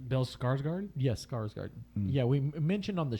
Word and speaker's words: Skarsgård: Yes, Skarsgård.